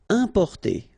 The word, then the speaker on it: importer: Importer, okay, IM, then a consonant, so it's the nasal importer, importer.